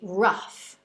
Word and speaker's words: rough: En este caso, el O-U-G-H suena similar a la letra A y termina con una F fuerte. Otros ejemplos con la misma pronunciación son enough, que significa suficiente, y rough, que significa rugoso o difícil, entre otros.